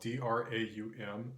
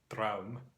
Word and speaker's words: draum: In Norwegian, Nynorsk, this is spelled D-R-A-U-M and pronounced Draum, Draum.